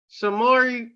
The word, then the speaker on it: Samori: Samori is how you say Samori Toure.